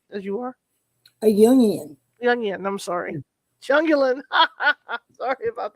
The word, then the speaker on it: Jung: you are a jungian young i'm sorry jungling sorry about that well it would be it's an easy mistake because it's a german pronunciation of the name as opposed to an english pronunciation if i was consistent